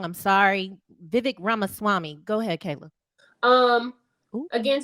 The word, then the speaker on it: Ramaswamy: DM me I said it wrong I'm sorry Vivek ramaswamy go ahead Kayla um again to the point